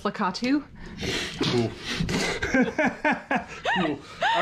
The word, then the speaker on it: Lakitu: So it's pronounced Lakitu.